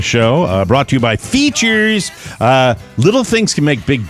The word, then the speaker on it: Feetures: Features, spelled, by the way, Feetures. That's how they say it.